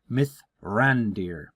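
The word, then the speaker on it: Mithrandir: known by the elves as Myer and I'll spell that out m i t h r a n d i r myth rander who will lead the fellowship out of Rivendell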